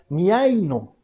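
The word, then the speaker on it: μιαίνω: Cuando el autor de Hebreos nos dice esta frase envenena a muchos, está utilizando una palabra que se pronuncia miaino. Miaino. Difícil de pronunciar.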